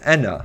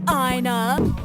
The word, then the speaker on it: ENA: I should note that ENA in Mercy's dialogue is in fact pronounced as ENA. Odds. Mooney throughout the series pronounces ENA's name incorrectly. Hey, Ina. Wow, look at the crowd today, Ina. But considering how another character pronounces her name this way as well, we consider this as a canon pronunciation.